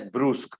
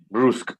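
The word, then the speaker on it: brusque: you pronounce the word you pronounce the word as bruce b-r-u-s-q-u-e okay bruce that's correct yes second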